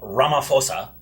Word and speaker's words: Ramaphosa: So, in South Africa, President Cyril Ramaphosa... Don't do that! That's my bit! No, I pronounced it right.